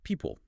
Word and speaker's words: people: Now pronunciation wise. People. How's that sound? People. Like the second vowel is really weak. Exactly. That second syllable often reduces to a schwa or something very close.